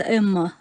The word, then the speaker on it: ЭММА: А вот вы неправильно набираете, просто читается эмма.